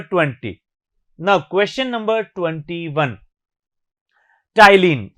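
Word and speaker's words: ptyalin: टाइलिन, P silent है इसमें।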